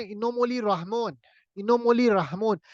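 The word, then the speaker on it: Эмомали Рахмон: of Tajikistan कौन है इनो मोली रहमो इनो मोली रहमो basically रहमो Rahman है रहमो इसको इस तरह वहां प्रोनाउंस किया जाता है इनो मोली रहमो प्रेसिडेंट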